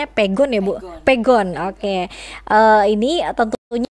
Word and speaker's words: Pegon: aksara asli yakni Pegon atau Pegon ya Ini bacanya Pegon ya Bun Oke ini Tentunya sih banyak masyarakat